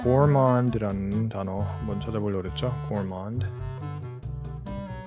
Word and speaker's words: gourmand: gourmand. 그때 D가 묵음이 아닌 것 같아요. 아마도 gourmand인 것 같은데 gourmand one who is